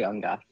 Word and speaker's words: Ungath: And we've also got Ungath, is that right? Am I pronouncing that correctly? I say Ungath. You can say Ungath, but I say Ungath.